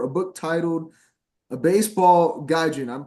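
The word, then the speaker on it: gaijin: know in 2024 a book titled a baseball gajin I'm pronouncing that correct right yep yep gajin that's it that's us gajin chasing a dream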